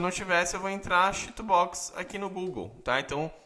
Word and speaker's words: CHITUBOX: Bom, primeira coisa que a gente tem que fazer é baixar o Cheatobox.